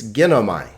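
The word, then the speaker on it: γίνομαι: So this is not gin o ma and then like this, gin o ma e. It's ginomai, a 3-syllable word because there are 3 vowels. Ge, na, mai.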